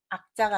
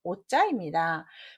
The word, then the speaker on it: 오자: 자, 답은 악자가 아니라 오자입니다. 미워할 오로 읽으셔야지 여기에서 아까라 가면 안 되겠습니다.